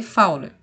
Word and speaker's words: Fowler: está em posição de fowler tá bom se escreve fully mas a gente lê fauna tá quando paciente para